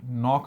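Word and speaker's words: knock: नॉक में अरे एन से पहले कभी भी के बना होगा। साइलेंट ही होगा। ठीक है? देखो भाई। नॉक का के साइलेंट है।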